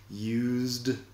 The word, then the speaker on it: used: Used de usado, o el pasado del verbo use, used, se pronuncia la D.